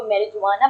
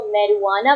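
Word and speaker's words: marijuana: इसमें जे आर है जब भी कोई मैरिहुआना को मेरि जुवाना बोलता है मेरे अंदर की इंग्लिश के टीचर थोड़ी सी मर जाती है आपने इसको मेरवाना बोलना है जे साइलेंट है मेरवाना ओके मेरवाना को आप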